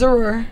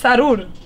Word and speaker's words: Zrura: It's the name of it is Zrura, which is my last name. Okay. Zrura. Well, in Spanish it's Sarur. Oh, yeah, y'all can't say that, so it's Zrur.